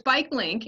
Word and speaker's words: BikeLNK: lnk so yeah so it's bike link and it's pronounced link uh because we wanted